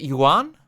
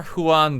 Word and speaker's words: Juan: who on move on the spanish j yeah that's why i'm asking how you pronounce it won okay i'm gonna go for huan then queuing is this